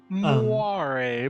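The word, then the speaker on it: moiré: There was a guy giving a presentation today about photonic crystal moire patterns, and how the Moire fuck was pattern. he pronouncing it? It's just moire. Moire. That's not it.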